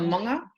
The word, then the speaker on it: manga: So that NGA is mong, like a sound. So manga, awa, waka, iwi, marae, ahau, kainga, inalanai, whānau, matua, whaea, ingoa.